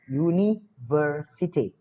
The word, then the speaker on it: University: tetapi cara pelafalannya Hai sedangkan University walaupun berupa wallnya huruf u terjadi cara pelafalannya itu seperti buruk white you Yuni versity contoh lain Apple Umbrella